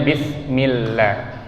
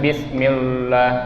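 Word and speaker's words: بسم الله: Lafaz Allah kita baca tipis karena sebelumnya huruf yang berharokat kasroh atau i. Jadi kita bacanya bismillah. Jangan bismillah ya, tapi dibaca tipis.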